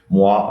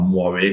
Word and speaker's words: moire: still have something that's called moire or moire, depending on where in the world you pronounce it, which you might have seen on TV sometimes.